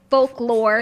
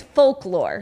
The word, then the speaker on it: folklore: it is called fork folklore it's hard to pronounce called forklore for folklore it's the l is like it's a light out it's not like fock but it's it's folklore it's folk lore um